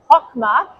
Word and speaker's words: Chokmah: So chokma, pronounced as actually chokma, means wisdom in Hebrew.